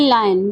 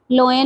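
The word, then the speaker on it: lion: इज यूज for Asian लायन। लायन के लिए ही यूज हुआ है। सबसे पहले तो इसको लोयन नहीं बोलना है, दिस इज लायन।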